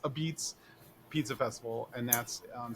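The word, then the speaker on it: apizza: it's it's spelled out a pizza but it's pronounced a beats Pizza festival and that's on September 11th in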